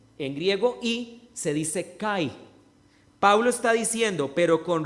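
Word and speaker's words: καί: se dice I en griego I se dice Kai Pablo está diciendo pero con respecto a la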